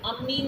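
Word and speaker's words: amine: अमीन कह दो। हाँ अमाइन कह लो, अमाइन में से बेटर प्रोनाउंसिएशन है, सही कह रहे हो।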